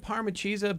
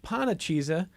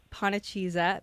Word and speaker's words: Panacheeza: I don't know where you find Parma Chisa, but Pana Chisa, You want to spell it for people?